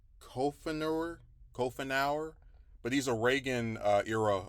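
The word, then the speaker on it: Coughenour: I can't pronounce his name. It's Kofenauer, but he's a Reagan era appointee over there in Seattle.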